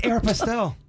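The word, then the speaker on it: Aéropostale: It's Aeropostale.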